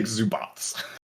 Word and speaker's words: Zubac: Yeah, his name is said like it's spelled Zubats. It's like Zubats.